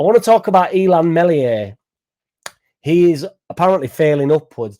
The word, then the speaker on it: Meslier: And it was definitely a dig at Melier from from last year and the issues that he had last year. Luckily, it was Perry Perry that conceded five goals against Arsenal and not melier silent s because if it was